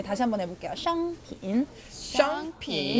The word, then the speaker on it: 商品: 여기서 商 발음은 혀를 약간 말아서 발음하셔야 돼요. 네, 다시 한번 해볼게요. 商品. 商品.